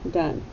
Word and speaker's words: done: But you don't hear the E at all.